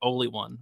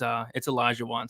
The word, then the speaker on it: Olajuwon: I think I called him like Oli one, but now it's Olajuwon.